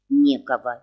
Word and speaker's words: Некого: Некого. Видите ударение на первом слове?